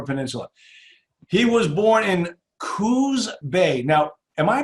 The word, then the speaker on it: Coos: He was born in Coos Bay. Now, am I pronouncing Coos correctly?